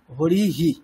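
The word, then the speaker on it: হরিঃ: তাহলে উচ্চারণটা কেমন হবে হকারের পরে আমরা ইকার কে নিয়ে উচ্চারণ করব হি হরি হি ঠিক যখনই উকার আসবে যেমন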